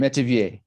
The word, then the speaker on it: Metivier: Metivier, how am I pronouncing that? Metivier.